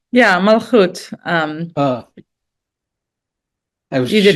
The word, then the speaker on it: Malachot: Hadar, but looking beyond my pronunciation there, it's Malachot, or how is that word pronounced? Yeah, Malchut.